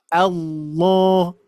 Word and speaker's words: Allah: Jadi lamnya jadi tebal. Allah. Allah. Ini maksud tebalnya di sini pengucapan menempelnya huruf ee menempelnya ujung lidah ke langit-langit ya.